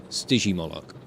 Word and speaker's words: Stygimoloch: oh that's an idea soft G Stygimoloch oh that's a mess